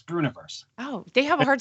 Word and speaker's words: Breuniverse: a lot of people have a hard time pronouncing it it's yeah it's brunoiverse oh they have a hard time with that